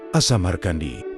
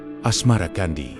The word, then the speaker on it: Asamarkandi: Pada paruh awal abad 14, Babat Tanah Jawi versi Mensma menyebutnya Asmara Kandi. Mengikuti pengucapan lidah Jawa terhadap Asamar Kandi berubah menjadi asmara Kandi.